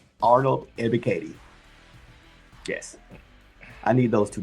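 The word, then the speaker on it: Ebiketie: And only Falcon fan can know how to pronounce that name. Arnold Ebikati.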